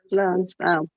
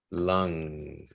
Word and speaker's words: lung: is yeah lunch lungs lungs can respon lung these are your lungs okay yeah lung that U is pronounced as an a lung lung and plural and lungs